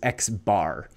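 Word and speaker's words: x̄: If you see any markings above these Latin letters, like this X with the line on top, we pronounce this X bar.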